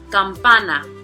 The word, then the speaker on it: campana: Next, tenemos campana. Campana, here we have three syllables. So the prosodic accent is going to be on the second to the last, so it'll be on that pa. Campana.